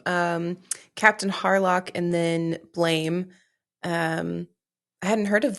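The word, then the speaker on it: Blame!: this Netflix film called blame it's actually pronounced blam like the sound of a gun when you fire it so nobody calls it that it looks like blames that's what we call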